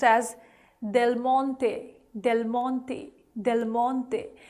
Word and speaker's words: Del Monte: Well, if you did, you should also know that it is pronounced as Del Monte, Del Monte, Del Monte. That is the correct Italian pronunciation, but usually again in English we end up pronouncing it as Del Monte, Del Monte.